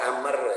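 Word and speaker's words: عمرو: dari gholib dsb Riau Amber al-qurasyi disini dibaca Amr ya karena ahli hadits itu sepakat Hai kalau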